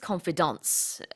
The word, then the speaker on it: confidants: lawyer sure his closest confidants and the reason it's pronounced this way is because it comes from French and so it's one of those odd pronunciations it might look like